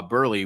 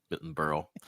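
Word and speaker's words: Berle: he also said that uh that Milton uh Burley was burle what how you say his name thank you Milton Burl uh was bigger was bigger than him was bigger and Sinatra.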